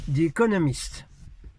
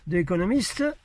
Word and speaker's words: The Economist: Prononcez pas l'anglais avec des Z, s'il vous plaît. Hein, c'est un D, comme ça. C'est. Si vous n'y arrivez pas, dites de, comme un D, quoi.